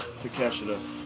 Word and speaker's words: Takeshita: Takeshita? Let me actually pronounce his name right instead of being Jim Cornette and being an asshole.